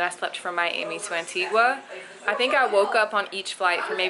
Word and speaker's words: Antigua: at the royalton antigua that's how you say it you don't say antiqua it's antigua everybody that we've spoken to says antigua um we didn't get